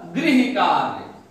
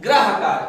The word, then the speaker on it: गृहकार: अब जैसे हमने ये लिख दिया गृहकार, लोग क्या कहते हैं? ग्रहकार। अब भाई ग्रहकार कैसे हो गया?